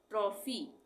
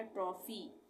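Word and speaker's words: trophy: पे और भी है ट्रॉफी यहां पे पी एच एक साथ है यहां पे भी फ आ गया ट्रॉफी उसके बाद यहां पे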